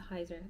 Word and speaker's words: Heizer: I'm I'm bad at this I'm not ready Heiser that's the hyzer that's the model name is hyzer it's spelled h-e-i-z-e-r gentle monster hyzer okay so I